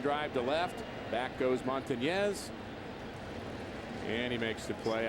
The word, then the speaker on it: Montañez: I'd like you to pronounce that little Enye. It's Willie Montañez. Montañez.